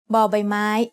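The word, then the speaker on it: บ ใบไม้: As the initial consonant of a syllable, bò bai mai makes the sound b like the B in bucket.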